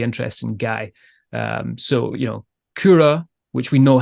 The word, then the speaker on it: Kura: talking about with Kura, it's Kyro. So it looks like, well, I don't know what it looks. Cairo, yeah, I suppose it looks like Cairo instead of Kura. But obviously being Finnish, that's the way they pronounce it.